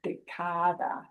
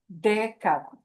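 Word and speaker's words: década: But nobody pronounces that word decada. All right, it's decada. So, because the way we pronounce that word breaks the stress pattern rule, we have to have a written accent mark there, right?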